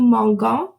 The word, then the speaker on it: mangeons: So for new, I want to point out that any GER ending or even a CER ending changes because you have to, let's start with GER, you have to add an EONS to pronounce the je sound.